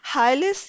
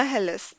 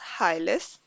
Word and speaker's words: hilus: कह रहे होते हैं हाइलिस या हेलिस। इसको नॉर्मली हाइलिस जो है वो प्रोनाउंस किया जाता है, HILUS, हाइलिस।